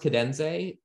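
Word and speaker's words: Kadenze: oh yeah you totally should um apparently it's pronounced cadenze who would have known it's pretty hard to figure out but k-a-d-e e n z e but yeah I put together this class with cadenze which is just called computer assisted music in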